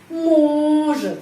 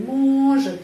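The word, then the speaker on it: может: o o on on dia laki-laki on mojet ya penekanannya di sini mojet mojet huruf o tetap huruf o mojet karena dapat penekanan had penekanannya di sini pada huruf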